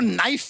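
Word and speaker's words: knife: शर्मा जी आपको नाइफ word मालूम है? नाइफ। हाँ। उसमें शुरुआत में जो के होता है, हाँ। वो क्या है? साइलेंट।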